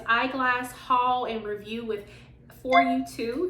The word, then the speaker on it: FYTOO: haul and review with for you two that's how I'm going to pronounce the company so it's f-y-t-o-o and I just want to say it's for you too because it is for you too if y'all can't see